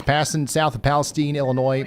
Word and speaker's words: Palestine: It's passing south of Palestine, Illinois. It's pronounced Palestian.